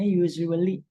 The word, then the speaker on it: usually: Walaupun tulisannya usually, tapi bacanya usually. S-nya tuh agak Z.